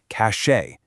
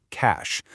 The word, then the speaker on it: cache: It's not fancy, it does not have a French accent, it is not cache. It's just cash, like the money in your wallet.